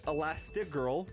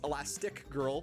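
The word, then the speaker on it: Elastigirl: That's Elastig Girl, one word. I've actually been pronouncing this elastic girl for the past 20 years. But turns out I've been wrong this entire time.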